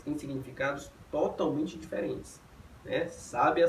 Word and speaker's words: sábia: Sábia, sabia e sabiá. E a diferença é o mero acento agudo, ou seja, é a posição da sílaba tônica.